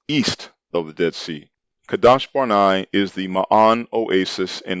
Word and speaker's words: Kadesh Barnea: terrible piranha wilderness northward to kadash barnai mispronounced kadesh barnea which is located in